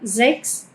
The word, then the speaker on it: sechs: Son tres los sonidos de la ch, bien, tenemos el sonido como una k, como en la palabra sechs, que acá esto suena así, como una k, sechs, suena bastante a la palabra eh sexo, ¿no? sechs, eh pero es el número seis.